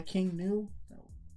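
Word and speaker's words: King Gnu: it's freaking amazing by King new yeah or as he pronounced King new cuz the spelling of the band is like weird yeah but I was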